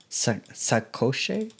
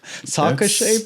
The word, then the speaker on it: sacoche: How do you say this? Sacoche. Sacoche bag. That's not me. French. It's a saddlebag.